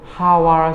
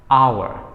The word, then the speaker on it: hour: ဒီလိုပြောပါတယ် develop လို့ပြောလဲမှားပါတယ် develop လို့ပြောလဲမှားပါတယ်တကယ်တော့ stress ကို middle syllable မှာအတန်ဖိပြီးတော့ပြောပါမယ် develop final ending consonants တွေကိုတတိထားပြီးတော့ပြောဖို့လိုပါတယ် repeat after me develop great job နောက်တစ်လုံးကတော့ကျွန်တော်သင်တန်းမှာကျောင်းသားတွေကိုအများဆုံးပြင်ပေးရတဲ့စကားလုံးဖြစ်ပါတယ်ဒီစကားလုံးကတော့ဒီဟာဖြစ်ပါတယ်ဒါကို hour ဆိုပြီးတော့ကျောင်းသားတွေအများဆုံးထွက်ကြပါတယ် hour မဟုတ်ပါဘူးတကယ်အတန်အတွက်အမှန်က hour H O U R ဒီ O U R